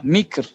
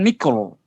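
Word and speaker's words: مكر: Gimana bacanya ra? Tipis, Ustaz. Harus tipis ya. Kenapa? Karena sebelumnya kasrah, mikr. Sama seperti zikr. Dalam hal ini sama seperti zikr. Apa bedanya? Mikr. Mikir, mikir. Mikr, mikr. Bukan mikro.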